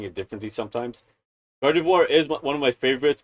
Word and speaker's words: Gardevoir: I'm kind of a fan of uh Giv Gardevoir. That's how you pronounce your name. I I don't know why I keep pronouncing it differently sometimes. Gardivoir is one of my favorites because of the uh of just psychic abilities.